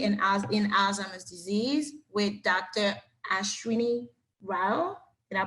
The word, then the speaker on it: Ashwini Rao: Ashwini Rao. Did I pronounce it right, doctor?